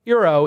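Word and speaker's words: Eero: quick message for arrow mr. pronounced arrow what is it pronounced it's zero right euro is a the world's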